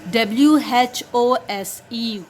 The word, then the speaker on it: whose: Whenever WH is followed by a vowel O, it makes the sound as H.